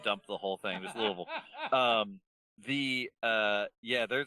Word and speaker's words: Louisville: through the Louisville Louisville or the big just combo syllable Louisville Louisville yeah you kind of pour it out of your mouth you just kind of dump the whole thing just Louisville um the uh yeah